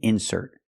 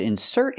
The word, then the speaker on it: insert: talk about the insert putting the stress on the second syllable he has to insert his card into the ATM he has to insert his card I cannot say he has to insert his card no I put the stress on the second syllable because it's a verb he has to insert